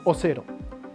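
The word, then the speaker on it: オセロ: El nuevo juego sería bautizado Otelo, o como lo pronuncian los japoneses, Osero, en honor a la novela favorita de William Shakespeare de este juguetero.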